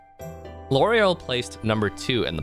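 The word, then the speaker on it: Lauriel: also where you meet l'oreal l'oreal placed number two in the popularity polls in 2022 as the second most like likable npc after nineveh yes his name is pronounced like the shampoo so we also refer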